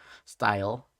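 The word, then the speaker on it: Styal: wing of hm prison style and cheshire report yeah i said it right right you did yeah trisha uh reportedly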